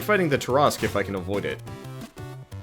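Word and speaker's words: Tarrasque: I think originally, when I was like in 3rd grade, we called it the Tarasque, but we realized very quickly that that was a terrible pronunciation for such a... It's either Tarask or Tarask. But it's definitely not Tarasque.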